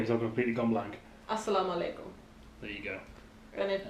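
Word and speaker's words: السلام عليكم: Assalamu alaikum.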